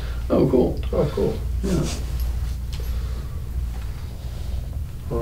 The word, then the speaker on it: Okul: How do you pronounce it? O-K-U-L. Oh, cool.